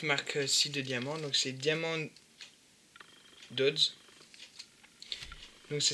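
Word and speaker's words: Diamond Dotz: Alors, voilà, avec cette marque-ci de diamant, donc c'est Diamond Dodds. Donc ça s'écrit D-A-M-O-N-D espace D-O-T-Z.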